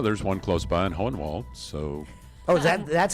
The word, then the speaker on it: Hohenwald: the blast well there's one close by in Hohenwald so oh is that that's how it's pronounced yeah Hohenwald okay yeah and uh yeah this whole world